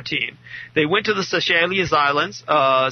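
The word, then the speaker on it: Seychelles: were a soccer team they went to the sashelas islands uh sashelas is spelled uh s y c h l l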